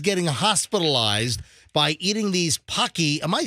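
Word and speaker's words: Paqui: So after we did the story yesterday about kids getting hospitalized by eating these Pocky, am I saying it right?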